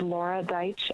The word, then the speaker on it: Laura Deich: two minutes you may begin my name is laura deich l-a-u-r-a be like david e i t like